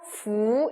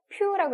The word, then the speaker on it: 福: 부 읽으시면 되겠습니다. 퓨라고 읽으시면 안 돼요.